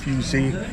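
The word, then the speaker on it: fusil: s i l but it's French so they pronounce it fusey and this is a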